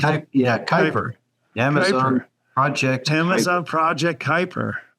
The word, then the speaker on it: Kuiper: You're working with Keeper now, or Kuiper. I never knew how to pronounce it. Kuiper.